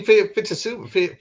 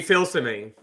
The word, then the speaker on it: Fils-Aimé: Reggie Fitsasumi. Oh, God, how do you say it? In the scene. It's Reggie Fils-Aimé. Fils-Aimé. Something like that.